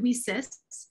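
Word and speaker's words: WiCyS: our academies w-i-c-y-s and we pronounce it we cis because we are a cyber sisterhood and so we're a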